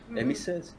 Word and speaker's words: Amy Search: The character inside dia punya movie actually pronounce it like how typical Malay Regular pronounce it. Amy Search. Emissus.